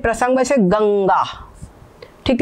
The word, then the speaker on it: गंगा: ये गंगा ठीक है ये वाली जो बिंदी है बिंदी के बदले में आधा ग लिखा हुआ है ठीक है गंगा तो ये हो गया